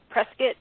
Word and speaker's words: Prescott: they originally um met in a town called Prescott actually it's pronounced presc like biscuit Prescot Arizona um and I am now uh writing